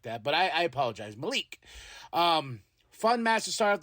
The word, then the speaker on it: Malik: Found out I've been saying his name wrong. I was like Malik Blade or something like that, but I apologize. Malik.